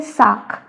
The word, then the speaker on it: sac: SAC का मतलब होता है बैग, इसको हम बोलते हैं साक, साक। अब देखो इसमें सी का क साउंड आ रहा है ना, तो इसको क्या बोलेंगे हम, साक, साक।